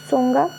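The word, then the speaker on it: Tsonga: सोंगा, ता यहाँ पे आधा ता साइलेंट रहता है।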